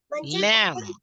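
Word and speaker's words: lamb: who want to read Ayush Pathare words with silent letter B एल ए एम बी लैम एल आई एम बी लिम म्हणजे फांदी खोडकर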